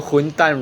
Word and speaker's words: 混蛋: So 混蛋 rhymes with 滚蛋.